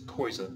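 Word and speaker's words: coisa: for thing which is KOA KOA remember in the pronunciation there is the oi which is non-nasal now some examples of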